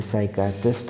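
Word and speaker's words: psychiatrist: एक्कीमीटर इज यूज to major, अब यहाँ पे पी जो हो है, जैसे साइकाट्रिस्ट हम कहते हैं ना, पी से स्टार्ट होता है लेकिन पी साइलेंट रहता है, राइट।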